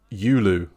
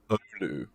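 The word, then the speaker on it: Oulu: Uh Oh, so it's just Yulu? Yulu? Rather than You need to pronounce pronounce the O. So, oh, it's Ulu.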